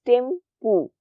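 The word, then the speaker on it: Thimphu: तो नेपाल का कैपिटल है काठमांडू और भूटान का कैपिटल है थिम्पू। स्पेलिंग्स हैं टिम्फू के, लेकिन जब आप इसका प्रोनाउंस करोगे तो यू विल प्रोनाउंस टिम्पू।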